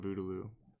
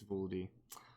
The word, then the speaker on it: Vooldy: This is actually the first I've ever seen Voodoo. Vooldy. I'm saying it wrong. It's Vooldy.